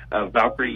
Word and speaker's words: Valkyrie: What is the connection, I guess I should ask, to, is it pronounced Valkyrie Yachts? Valkyrie Yachts, it's actually Valkyrie Yacht Sales.